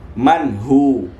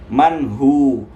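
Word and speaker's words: مِنْهُ: Ini bacaannya manhu, manhu, manhu. Jangan antum baca manhu, salah ya, karena ini adalah izhar. Mungkin karena suaranya bagus tetapi tidak menguasai tajwid, akhirnya mengedepankan nada.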